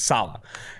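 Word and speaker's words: Saleh: i know that recently robert salah i think it's salah you have to pronounce the emphasis is on the saab it's salah has run an increasing amount of four three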